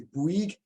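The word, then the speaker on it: BWEG: elephant in the room how to pronounce our name is b-w-e-g it's Brig my name is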